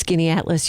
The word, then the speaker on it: Skaneateles: Look, you could pronounce Skaneateles.